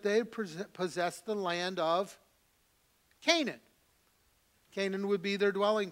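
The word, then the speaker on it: Cainan: Then we see Canaan. Now, Canaan is the same. It is a different spelling, but it's pronounced the same way as Canaan that we see that was promised to the people of Israel.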